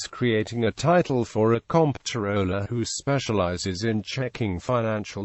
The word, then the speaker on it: comptroller: a title for a comp tooler who specializes in checking Financial Ledges this atmology explains why the name is correctly pronounced identically to controller despite the distinct spelling however controller is sometimes